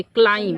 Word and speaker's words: climb: क्लाइम। क्या पढ़ेंगे? क्या साइलेंट हुआ?